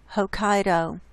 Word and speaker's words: Hokkaido: island huh cot high cotton Pokot who caught Hokkaido that's how you say it just to the